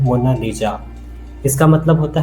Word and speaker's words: Mona Lisa: लेकिन इटालियन में इसकी करेक्ट प्रोनंसिएशन है मोनालिजा।